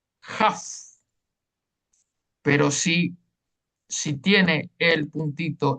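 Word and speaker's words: כף: Si no tiene el Dagesh, se pronuncia como una J, Jaf.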